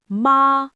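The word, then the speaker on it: 妈: If I say ma with a high flat tone, it means mother.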